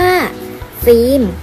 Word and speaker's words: ฟิล์ม: การันต์ ค่ะ ต่อ ไป คำ ที่ สอง เรา อ่าน ได้ ว่า ฟิล์ม เพราะ หมาย ทัณฑฆาต อยู่ บน ตัว ลอลิง นั่น เอง ข้อ 2 ไม่ ออก